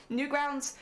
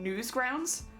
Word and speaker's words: Newgrounds: Newgrounds, which by the way I will probably mispronounce because I've called it Newsgrounds for the longest time. Well, I don't know why. But like I when I read it initially, I read it as Newsgrounds, and so I still